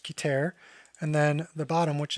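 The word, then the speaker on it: Keter: So if you think about the top, right, which is, I believe it's pronounced Kiter, and then the bottom, which is Malkut.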